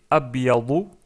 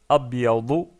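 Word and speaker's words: أبيض: Ensuite, la couleur blanche, c'est abyadu, abyadu ou abyad si on s'arrête sur le mot.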